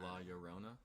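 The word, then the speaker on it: La Llorona: tuesday yeah tuesday origins two l's make a y sound okay so la yorona la yarona we're gonna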